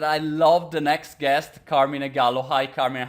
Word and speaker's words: Carmine: know I you know first of all I'm Italian so I say Carmina but I always hear people say carmine so I should I guess the right pronounce is carmine probably it's very Americanized in America they called me carmine but I prefer the Italian translation which is Carmina gallo sounds so much